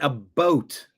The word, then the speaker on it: about: A boot is Canada. And a boat. It's often pronounced a boat, but we say a boot. A boot and a boat.